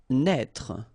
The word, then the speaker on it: naître: Naître. Okay, same thing here for the circonflex. Write it, but don't pronounce it.